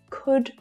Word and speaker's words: could: to here is that the l in all of these three words is silent don't try and pronounce that l it's actually easier than